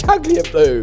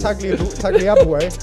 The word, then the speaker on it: Tagliabue: And you've just mispronounced it. It's Tagliabue. Tagliabue.